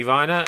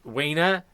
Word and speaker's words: Weiner: his own name because if you go back to the Germanic it's a knee-high combination should you should favor the the second vowel and it should actually be pronounced finer if he just called himself Anthony Viner and not Weiner this whole I'm sure